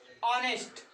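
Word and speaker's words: honest: अब इसी में अगर हम कह दें ऑनेस्ट, क्यों? नो, you cannot say like this silent, because of here the pronunciation of this word express with vowel sound।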